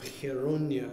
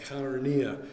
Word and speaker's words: Chaeronea: And the date, I should add, is immediately after the Athenians have lost a major, major battle, the Battle of Chaeronea, as it's pronounced today, Chaeronea in antiquity.